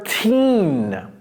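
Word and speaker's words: thirteen: Et ça, c'est pas tire. Tire, c'est thir. OK? Thir. 13, 30.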